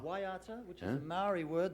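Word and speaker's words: Waiata: how do we pronounce this word this is pronounced W waata waata which is a Mari word the Mari people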